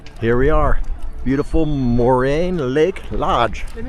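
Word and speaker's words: Moraine: Beautiful Lake Moran. Morin.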